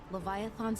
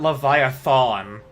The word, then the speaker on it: Leviathan: Based on the combat data you provided, Leviathan's abilities are more difficult for us to counter. You pronounce it Leviathan, not Leviathan.